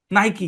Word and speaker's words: Nike: Pronunciation rule অনুসারে এটা হওয়ার কথা ছিল নাইক, রাইট? রাইট। কিন্তু এটার নাম কি? নাইকি। কি নাম? নাইকি।